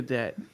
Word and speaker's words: debt: Back to debt. Debt. Yes. Debt. The B is actually silent.